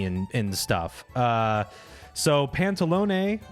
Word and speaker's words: Pantalone: and stuff uh so pantalone or I think as in English it's pronounced pantaloon pantaloon is uh characterized as